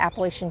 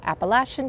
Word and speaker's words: Appalachian: be heading to the Appalachian Trail soon, or Appalachian Trail. It's a proper way to say it, I believe.